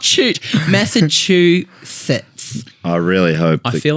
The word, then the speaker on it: Massachusetts: adding a T in after the S. Right. So it's Massachusetts. Massachusetts. Is it one of those Not ones where not shoot. Massachusetts.